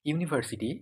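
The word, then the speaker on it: university: এখানে দেখো ইউনিভার্সিটি, এটা ইউনিভার্সিটির এই ইউ, এটা তো একটা ভাওয়েল লেটার। ঠিক আছে? কিন্তু এর উচ্চারণ কিসের মতো? এর উচ্চারণ হচ্ছে ইউ, ইউ, ওয়াই এর মতো।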